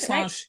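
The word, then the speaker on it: Slàinte: You guys say slanja? Did I We say pronounce it right? slange.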